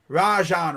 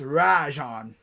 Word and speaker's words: Rajon: ra it's like ra rajan rondo yeah not raja not rageon it's rajon like rah-rah rajan rondo yeah sounds